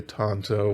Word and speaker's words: tanto: really wanted to but as far as the word origin and how you should pronounce it i do believe it's with an ah sound so there you go